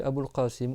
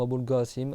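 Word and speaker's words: Abu al-Qasim: Ou Mohamed, c'est Mohammed ou Ahmed ou alors tu dis Abouqassim ou Abou Gassim avec un G quoi si tu arrives pas à faire le par qu'en arabe le cof, on peut le prononcer G aussi que le Coran.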